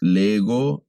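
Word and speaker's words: λέγω: En la pronunciación tiene pequeñas variaciones por el comportamiento de la gama junto a otros sonidos.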